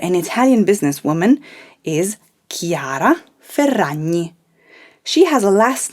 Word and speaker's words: Ferragni: name has the tricky sound like in the word gnocchi so her last name is ferrani remember to roll the double r say it with me chiara ferrani another brand that very